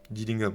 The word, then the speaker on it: Dillingham: Rob, j'oublie toujours comment on prononce son nom. Dellingham. J'ai pas. Je me suis pas intéressé. Dillingham, ouais, Dillingham.